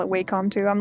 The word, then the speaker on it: Wacom: oh and Juice says I've always called it wcom not sure why but Wacom is correct okay I'm I'm glad I always call it waycom too I'm like you know what I'm gonna